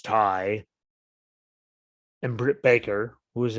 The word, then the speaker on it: Tay: Apparently, it's pronounced Ty. I thought it was Tay because Tay, but apparently it's Ty.